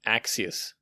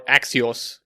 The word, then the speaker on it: Axios: to make use of axus okay or axios there are different pronunciation for this okay but what